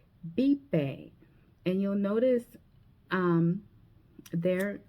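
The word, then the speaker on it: vive: So instead of saying vbe like you would read, you would say bipe.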